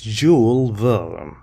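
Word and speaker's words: Jules Verne: French writer it's not English and it is pronounced as jewel villain it's an adventure a four year adventure begins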